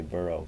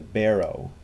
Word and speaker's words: barrow: I think I say burrow because I'm thinking of like burrowing underground. But it's a barrow, like a wheelbarrow.